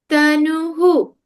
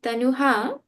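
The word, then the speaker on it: तनुः: Tanuhu. I hope nobody said tanuha. It's tanuhu. Tanuhu.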